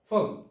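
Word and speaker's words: folk: তারপর হচ্ছে walk, walk শব্দের অর্থ হচ্ছে হাঁটা, ওয়াক, এখানেও কিন্তু এল লেটারটি সাইলেন্ট, ওয়াক, হাঁটা। এরপরে লাস্ট ফগ, এফ ও এল কে, ফগ শব্দের অর্থ হচ্ছে লুক, লুক।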